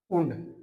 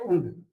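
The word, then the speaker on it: und: आपको एक वर्ड याद करना होगा ऊंड। इसकी प्रोनाउंसिएशन क्या होती है? ऊंड। और इंग्लिश के अंदर इसका मतलब होता है एंड मतलब और एंड। एंड को बोलते हैं हम ऊंड।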